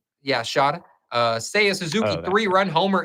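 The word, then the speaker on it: Shota: Shada. Yeah, Shada.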